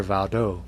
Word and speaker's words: Waldo: Peter of the Valley, or how they pronounced it over there, Valdo. Yeah. Peter Waldo.